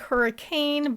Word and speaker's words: Hurricane: The first pioneers who settled there were British, and that's how they say it.